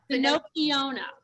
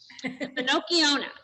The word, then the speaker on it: Finocchiona: Is it Finocchiona? Finocchiona. Like Pinocchio. Right. Finocchiona.